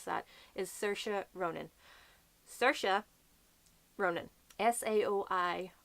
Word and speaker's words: Saoirse: the ones in Dublin so Saoirse which is the way that she personally pronounces can be Saoirse so there's that or there is Sarah huh no idea where